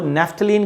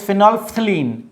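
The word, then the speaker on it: phenolphthalein: I think मैंने वहाँ पे जो उसका प्रोनाउंसिएशन था वो नेफ्थलीन कर दिया था। Sorry, it's my apology for यू। So please देखिए, वो जो उसका प्रॉपर जो प्रोनाउंसिएशन है दैट इज़ फिनोल्फ्थलीन।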